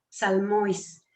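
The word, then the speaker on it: ψαλμοί: Y la tenemos abajo en griego que se pronuncia salmois.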